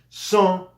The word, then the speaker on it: sans: je vole Je vole son no se pronuncia son fumé normalmente u fumé ha dos e pero se pronuncia una sola e son fumé s alcohol si van a pronunciar la s porque aquí vemos que alcohol comienza con a una vocal entonces son son son